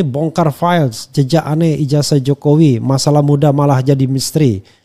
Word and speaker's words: Jokowi: Jadi kita akan menampilkan dan JKW dong, Jokowi. Oke, Jokowi. Walaupun nulisnya JKW tapi bacanya tetap Jokowi.